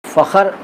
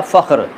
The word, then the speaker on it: फ़ख्र: फ़ख़र शुद्ध है या फ़ख्र, तो जनाब फ़ख्र शुद्ध है, यानी ख आधा होगा विशेषण का सही उच्चारण।